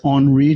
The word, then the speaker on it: Henri: name is uh that's the french name if you can't pronounce it it's on re just like that already is my twitter